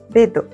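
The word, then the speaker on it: ベッド: Bedo ele tem, é como se fosse uma mini pausa ali na palavra quando você usa o pequeno. Como se fosse uma mini pausa ou uma sílaba tônica, sabe? Mais forte.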